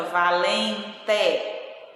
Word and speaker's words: valente: E a palavra valente, nós pronunciamos o I, mas ela se escreve com E e fica valente, tá?